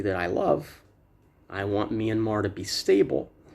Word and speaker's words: Myanmar: Council historic censure of military of Myanmar Junta Myanmar is the correct pronunciation but as I'm reading I won't slow